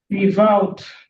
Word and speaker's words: without: Donc, on doit mettre la langue entre les dents. Quand vous voulez prononcer le TH là, c'est the, without. Without. Without. Voilà, c'est pas un D, c'est pas un S. C'est pas without, c'est pas without. C'est without. Without.